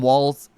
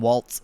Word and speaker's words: Walz: It's like the Tim Walz versus Tim Waltz shit. You know what I mean? People keep calling him Tim Waltz when that's not right.